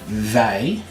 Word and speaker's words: wij: Your new words are wij. There's the W's. We and wij. You just want to pronounce your W like a V.